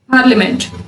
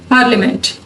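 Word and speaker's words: parliament: पार्लियामेंट, इसको पार्लियामेंट नहीं कहते हैं, पार्लियामेंट। इन दोनों वर्ड्स में आई जो है वो साइलेंट है।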